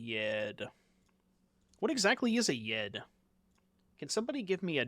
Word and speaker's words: Yed: No, Yed, not Yeti. Y-E-D.